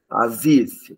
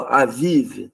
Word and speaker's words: Abib: guix aqui né então a vive né Abib Abib seria Abib ou avive né na transliteração você escreve Abib na pronúncia avive Ok gimel gimel é